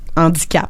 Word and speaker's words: handicap: Handicap. Un H aspiré aussi.